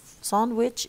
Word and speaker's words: sandwich: first you have three we apply the rule the G disappears because it's the medial consonant and then the okay because it's followed by a it turns into a it it change it makes CH of sandwich it becomes j sandwich sandwich or sandwich sandwich